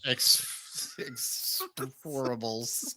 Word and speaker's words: Expend4bles: Expend4bles.